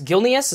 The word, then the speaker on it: Gilneas: the battle Gil pneus gilneas is how you say it I love this place